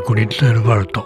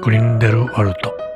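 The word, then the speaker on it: Grindelwald: ドイツ語ではグリンデルバルト、この地方の発音ではグリンデルワルト。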